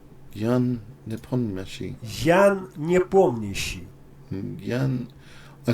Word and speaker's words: Ян Непомнящий: Ян непомнящий. Ян непомнящий.